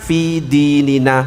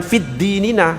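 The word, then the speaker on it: فِي دِينِنَا: Kalau alif lamnya dihilangkan fidinina bukan fiddinina. Salah enggak boleh fiddinina. Kalau enggak mau pakai eh mau pakai na fi dinina.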